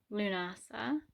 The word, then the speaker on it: Lughnasadh: lunasa lunasa is spelt and pronounced differently um commonly to my knowledge it is pronounced lunasa and um spelt the way i put it l l-u-g-h-n-a-s-a-d-h lunasa is on the